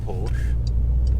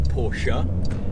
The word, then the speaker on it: Porsche: one of the things that I like about porch or Porsche as some portions youth guests all it it's